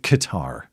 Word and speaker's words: Qatar: Okay, we'll go with Qatar, like a guitar.